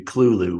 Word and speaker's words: Cthulhu: You know, even pronounces his name correctly. It's supposed to be Cthulhu.